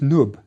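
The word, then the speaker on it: nb: This is the word for gold, pronounced Nub.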